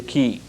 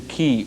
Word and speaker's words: chi: third one would be the key see that Chi sometimes it's spelled k i this is the key or the life flow